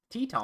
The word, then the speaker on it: Teton: Pronounce Grand Teton? Teton.